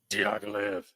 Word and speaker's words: Diaghilev: Diaghilev.